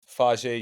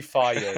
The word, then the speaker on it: Fage: Or it's actually Faye. My bad. I actually didn't nail the pronunciation.